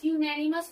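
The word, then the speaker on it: unanimous: The proposal was accepted by dash यूनेनिमस vote. तो यूनेनिमस यूनेनिमस का sound देखना है। क्या है? Consonant you यूनेनिमस।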